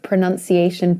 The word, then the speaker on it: pronunciation: It begins with a schwa, so that's why you nearly open your mouth. You barely open it.